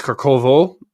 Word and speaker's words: Kharkov: The next phase is going to be the capture of Kharkov. Some people say it's Kharkovo or whatever. I don't care. I'm just going to pronounce it the way I've always pronounced it.